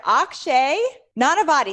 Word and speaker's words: Akshay Nanavati: creating everything from nothing today I'm here with Akshay not a body did I pronounce it right oxygen perfect amazing I'm really